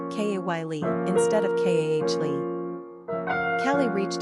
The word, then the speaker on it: Kali: Quick facts on Kali. Gender, girl. Origin, English. Number of syllables, 2. Ranking popularity, 363. Pronunciation, Kah-Lee.